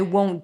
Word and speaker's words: won't: In the word won't, we have the long O as in go. In the O as in go, there is a W at the end. O. Right? If you don't add in that W, won't with or without the T, it's going to sound like want.